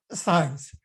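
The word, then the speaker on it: Zajonc: Okay, this name rhymes with science.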